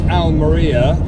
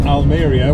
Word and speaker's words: Almería: thought so as we're heading south towards al meriya or almería whichever we pronounce it there is a sea of plastic